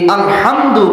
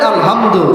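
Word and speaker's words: الحمد: এই আলহামদু বড় হা, অধিকাংশ মুরব্বীদের, যুবক ভাইদের এই বড় হা উচ্চারণ আসে না, ছোট হা আলহামদু, বাংলায় হ দিয়ে উচ্চারণ আসে।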